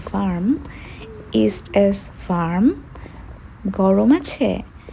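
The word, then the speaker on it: warm: বৃষ্টি হচ্ছে east S ভার্ম গরম আছে আগেই বলেছি ডব্লিউ কে ভি এর মত উচ্চারণ করে সুতরাং ওয়ার্ম হবে ভার্ম ইস্ট এস ভার্ম গরম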